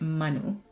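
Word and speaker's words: menú: I have to pronounce it's not menu it's Manu it's plow um the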